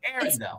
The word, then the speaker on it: Arendell: It's Arendell, not Ardell, but Arendell. It's actually Arendell. Arendell. Yes, it's the letters R and L.